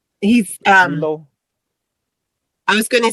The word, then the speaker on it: Frilot: But one of the vice presidents of UL or USL, Dean Patricia Cottenham, I think her maiden name is Frilo, but it's spelled Frilot.